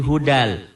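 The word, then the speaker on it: هُدًى لِّلْمُتَّقِينَ: bunyi n-nya jadi hilang Hudan jadi hudal hudal Lil Muttaqin Min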